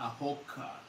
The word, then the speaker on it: hawker: Long story short, she was a hawker. Yeah, not a hooker. Oh. A hawker. Oh. Okay, pardon. No, you didn't say it wrong. It's just with the accent, it can sound like hooker.